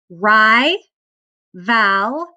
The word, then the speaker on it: rival: Ri, val, rival, rival, rival. That second syllable is unaccented. It kind of makes a lazy vowel sound, so that's that schwa that we talked about.